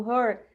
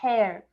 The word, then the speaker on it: her: atenção na hora da gente pronunciar o her Ele é bem aberto é her não é her já vi muuito a gente falando hair hair é cabelo certo então é bem fechado